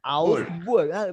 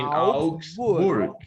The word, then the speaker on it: Augsburg: In Augsburg. Must pronounce all the word. In Augsburg.